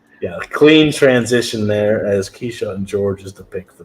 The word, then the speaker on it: Kyshawn: I have a tweet right now that gives me all of the right pronunciations of the prospects. So. Oh, nice. It is Kyshawn.